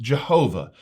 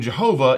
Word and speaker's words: Jehovah: in Biblical Hebrew and the consonant pronounced as a v in Jehovah would have originally been pronounced as a w in classical Hebrew so there's a lot